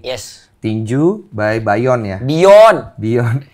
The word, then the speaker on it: Byon: Bion. Bacanya Bayon. Bion tuh B-I-Y-O-N untuk bacanya. Bion. Dari bahasa Inggris B-E-Y-O-N-D. Bion.